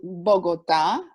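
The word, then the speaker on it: Bogotá: here which is called bogota let me write it right here and then it has the accent on the a and it's right here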